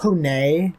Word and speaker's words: Pone: version of herself named it's either pronounced Pony or Pone, and it's Actually, just Pone.